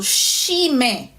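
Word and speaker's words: chimen: So this letter, being another digraph, is pronounced sh, as if you're telling somebody to be quiet.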